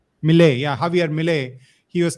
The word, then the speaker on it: Milei: Javier Milei. Milei, yeah, Javier Milei.